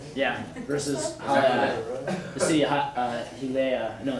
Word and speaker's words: Hialeah: Yeah, versus the city of Hialeah. No, it's Hialeah, city of Hialeah in Florida.